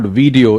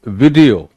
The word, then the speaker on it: video: It's not video, it's video. Video.